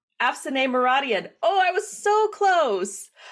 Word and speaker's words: Afsaneh Moradian: I took a break over the summer, and my first interview today is Afsaneh Moradian. And I'm so sorry. I got your name wrong. Afsaneh Moradian.